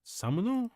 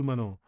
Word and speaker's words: 妻: Kochira ga こちらが samuno こちらが妻の桜です。 tsumano.